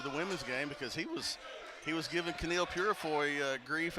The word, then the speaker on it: Ouachita: searching for Baptist University back in Texas everybody pronounces it Witchita but really it's was was how would you pronounce it was it's was Baptist University get it right it's wash people it's wash wash welcome back to Tiger